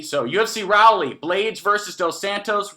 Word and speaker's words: Raleigh: I didn't know how to pronounce it. I kept calling it Raleigh, and Fight Geek helped me. So UFC Raleigh, Blades versus Dos Santos.